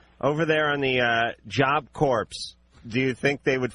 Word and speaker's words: Corps: Okay, me and my friend are joining Job Corps, and they have mandatory drug tests. It's Corps, by the way, like Marine Corps. No, it's Corps. Like a dead body. C-O-R-P-S-E? C-O-R-P-S. That's core. That's core. Pronounced core.